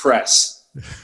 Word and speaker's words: Press: One little correction, it's Press. Press, sorry.